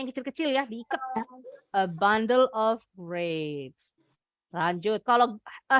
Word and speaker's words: bundle: Bundle, bacanya bundle bukan bandel nakal ya.